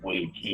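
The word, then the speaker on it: 危机: One of the Chinese word, they pronounce it Wei Ji.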